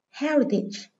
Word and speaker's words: heritage: Đây là danh từ có hai âm tiết, nên trọng âm dưới âm số 1.